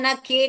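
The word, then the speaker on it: knock: एन आता है ना तो ये एन है ना के को बोलता है चुप बैठो तुम आवाज मत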